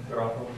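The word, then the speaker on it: γράφω: How would you pronounce that? Grapho.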